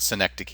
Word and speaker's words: synecdoche: Synecdoche, not synecdoche, or however, I've heard this pronounced a lot of different ways, but synecdoche is the correct pronunciation.